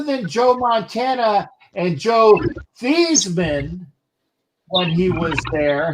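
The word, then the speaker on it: Theismann: joe montana and joe thiesman when he was there who changed his name the heisman or theism to rhyme with heisman that's true by the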